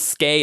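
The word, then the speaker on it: Skai: I wanted to name them Aona and Sky, but Brandon pronounces it as Skay, and that pronunciation's stupid. So I don't want to do that just because of that.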